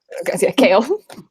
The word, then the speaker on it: Kale: the name Noah knows how to pronounce kale kale just just like the vegetables and speaking of the